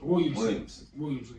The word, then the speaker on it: Williamson: Am I saying that nigga name wrong? Zion Williams. Williamson, yeah.